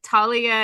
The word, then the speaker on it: Thalia: Thalia is technically like the Greek pronunciation but like Talia is like a name people have now that's usually pronounced that way.